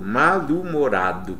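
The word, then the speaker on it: mal-humorado: a pronúncia né ó malum morado malum morado como se o h não existisse mas o if por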